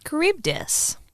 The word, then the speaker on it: Charybdis: Charybdis. I'll probably never say it again. Like, like Karen, right? It's spelled with the CH, that Greek CH that always gets us.